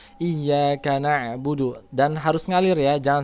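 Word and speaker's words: إياك نعبد: Iya kak ya ingat disitu hanya bertasydid jangan bacanya Iya kak tapi Iya Kak kemudian na'budu disitu ada huruf Ain bukan hamzah Jadi baca Jangan Iya karena bulu tapi iyyaka nabudu dan harus mengalir ya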